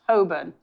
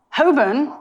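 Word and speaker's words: Holborn: The burrows I like how half of them the proper way to pronounce it is just don't say half of the letters. So, this phonetically is whole, right? But it's apparently pronounced Hoburn.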